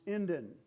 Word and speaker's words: Indian: We are Indians pronounced Indin.